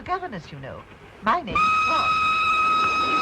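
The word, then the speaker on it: Froy: My name's Troy. You said Troy? No, oh, not Rudy. Troy. Sorry, I can't hear. It rhymes with joy.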